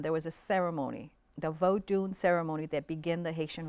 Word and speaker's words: Vodun: Vodun, which people say here, voodoo. Right, Vodun. V-O-D-U-N is the way we spell it, right?